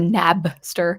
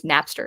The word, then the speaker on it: Napster: I think I said Nabster. I think it's Napster. Is it spelled with a P?